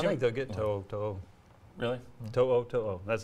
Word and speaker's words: To'oTo'o: To'oTo'o.